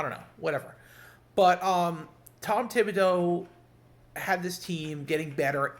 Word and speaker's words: Thibodeau: I don't think it's Thibodeau. I think it's a silent H. I think it's Thibodeau. It's like a French name or something, or a Cajun name.